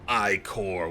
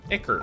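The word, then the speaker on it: ichor: nothing incredible i'm just gonna go with the i-core wellspring icker i was gonna say isn't it pronounced kicker yeah i always liked i-core there's there's a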